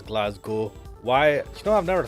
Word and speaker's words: Glasgow: It's Glasgow. Why? You know, I've never thought about how it's pronounced. You just kind of get used to it, but it is G-O instead of, even though it's spelled G-O-W.